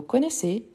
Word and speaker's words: connaissent: on ici et ici donc connaiss je ne prononce pas ent en fait c'est les